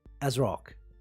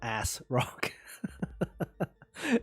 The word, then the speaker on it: ASRock: So it's like, you know, say as if, right? You say it like as if. So you say as rock, like that. Is that how you? Yeah, I think that's how you say it, right? So it's not ass rock. Okay, it's not as rock. So it's it's like as if. So as if, as rock.